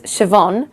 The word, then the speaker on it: Siobhan: So the official pronunciation of this name is Siobhan, but obviously you can name your baby whatever you want to name it.